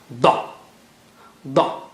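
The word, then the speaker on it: ض: So touch the right side of the tongue to the roots of the molars. That is how you say da, da, okay, dad or da.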